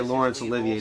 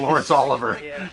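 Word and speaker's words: Laurence Olivier: was in the script he could not say Lawrence Olivier to save his life Oliver he kept saying Lawrence Oliver Way with hisg is one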